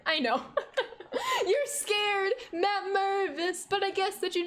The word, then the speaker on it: Mervis: Big fan of Matt Mervis, big fan. Mostly because it rhymes with nervous.